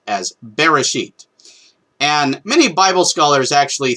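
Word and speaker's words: בראשית: is the word that in modernity is customarily pronounced as bereshit and many bible scholars actually think that that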